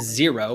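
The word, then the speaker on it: Xero: for having accurate bookkeep number two is zero which is spelled x eer o a little different uh but that is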